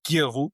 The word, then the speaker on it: Gill: And then the current episode right now is this fantastic, insightful gentleman called Joel Gill with a hard G.